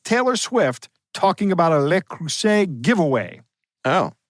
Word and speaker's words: Le Creuset: Swift talking about a Le Creuset giveaway. Oh. It rhymes nicely. I didn't even realize that because I had written everything here and didn't get the French pronunciation rhyming with the English.